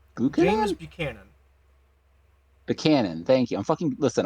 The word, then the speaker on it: Buchanan: Is that pronounced James Buchanan? Buchanan? Buchanan.